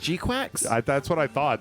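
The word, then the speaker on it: GQuuuuuuX: Uh that was like it's pronounced Gquax.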